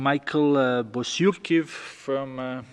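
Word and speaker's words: Michael Bociurkiw: Next question is coming from Michael Bosyurkiv, contributor to CNN.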